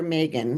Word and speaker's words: Meagan: We will get you and the other Megan Okay. some Also Gilded Honey. pronounced Megan, but spelled Meagan.